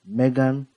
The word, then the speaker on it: M3GAN: in this movie is M3 like the number three G A N cuz supposed to be like a model three uh robots. There are three main characters in this movie. Megan, Caddy, and Gemma.